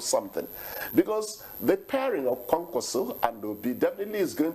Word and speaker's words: Kwankwaso: And now here he is talking about NDC that is done more, the Kwankwaso. Yeah, please, it's very important to pronounce it properly. Kwankwaso. That's it, Kwankwaso.